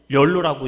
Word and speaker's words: YOLO: 그래서 요새 젊은 사람들 티셔츠 중에 YOLO, 열로라고 읽는데요, 그렇게 써놓은 티셔츠 입은 거 혹시 보신 적 있으십니까?